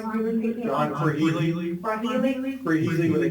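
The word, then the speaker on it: Krehely: John Freely, Freely? Freely with a K. Can you spell that for me, please?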